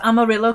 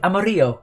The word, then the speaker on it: Amarillo: i pronounced amarillo correctly amarillo correctly thank you i think everyone knows it from the tony christie song he doesn't say it right does he 14 for